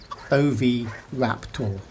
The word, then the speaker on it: Oviraptor: dinosaur names to say it has four syllables and you say it like this OV wrap tool don't forget to check